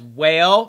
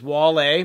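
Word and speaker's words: Wale: collabing already in previous videos said that it's pronounced as whale and I got a lot of thumbs up that comment but it is not it is wall you pronounced the name correctly imagine that somebody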